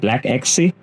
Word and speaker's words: BLAXE: Black Sea, oh gosh, that sounds almost like it's something else, but that's what it's pronounced as, BLAXE, Black Xe, Black Xe.